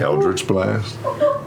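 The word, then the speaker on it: Eldritch Blast: pronounce that how would you say those words eldr blast blast no well hell I missed the old way you said it oh no eldri's blast yeah that's better you just so you Dre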